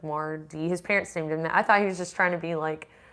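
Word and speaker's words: MarDe: It's spelled M-A-R, capital D, lowercase e. So his name is Marlon, and then middle name is Devon, but his dad's name is Devon, so it's like Mardy.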